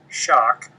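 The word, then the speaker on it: Schoch: my website my personal website is www Robert shock and my last name is spelled s h o c so it's r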